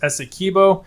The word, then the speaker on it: Essequibo: KLZ7618 said, hey, shout out, it's pronounced Essequibo.